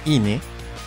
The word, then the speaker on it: inae: El nombre de esta subfamilia es Barburofeline, que deriva de la terminación estándar para una subfamilia zoológica, Inae, que se pronuncia Ine, más el género Barburofelis.